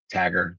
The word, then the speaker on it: Tager: Uh your tager, the total health of your tager, uh tager tager. I pronounce it tager.